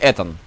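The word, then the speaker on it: Ethan: А, Итан или Этан? Этан. Потому что Итан пишется как E-A-T-O-N.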